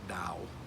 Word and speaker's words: Tao: i s m but it's pronounced more like a D sound like Dao the Dow